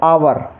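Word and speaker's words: hour: क्योंकि H silent रहेगा यहां देखिए आवर एच यू आर इसको हम आवर पढ़ेंगे क्योंकि एच से शुरू हो रहा है और बाद में ओ है तो एच साइलेंट रहेगा तो इसको हम आवर पढ़ेंगे हावर नहीं पढ़ना है आवर अगला नियम साइलेंट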